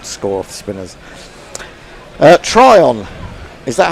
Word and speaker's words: Tryon: Tryon, is that how you pronounce her name?